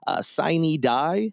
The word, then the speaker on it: sine die: Sine die is how I thought it was pronounced, but then I think other people pronounced it Synodia. Either way, it's the title of this episode. It's a Latin term.